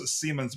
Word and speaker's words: Simons: Pronounced like spelled like a Simons, but pronounced Seammens, but it's okay.